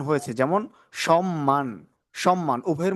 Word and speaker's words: সম্মান: যদি সাতটি বর্ণের সাথে থাকে তাহলে ম এর উচ্চারণ হবে। যেমন সম্মান, যুগ্ম, উন্মাদ।